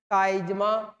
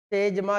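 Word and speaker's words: chiasma: इस cross structure को क्या कहा जाता है, काइजमा या तेजमा भी बोल सकते हैं उच्चारण में, जैसे भी मीनिंग निकलता है, तो काइजमा कहते हैं इसको।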